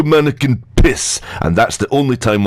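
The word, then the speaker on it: Manneken Pis: Of course, the mannequin P is how you pronounce it if you're polite. If you're Flemish, you pronounce it in its proper inflection as de mannequin piss, and that's the only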